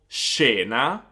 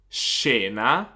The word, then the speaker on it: scena: So basically like the SH sound in English in the words she or ship. For example, scena, scena, or scimmia, scimmia.